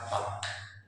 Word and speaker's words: bomb: अब आप इस बी को नहीं पढ़ोगे तो BOM, the word is BOM एंड इट is called बम। BOM, this is called बम। अगर इसे हम बी रीड करते हैं तो it will be bump, and bump कोई वर्ड नहीं है बेटा, तो आप इसे BOM बम पढ़ते हैं।